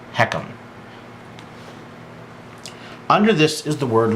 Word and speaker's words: HECM: Now, again, starting under the annual column, right below that you'll see this HECM.